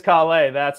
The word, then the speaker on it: Calais: It is Calais. It's the French pronunciation.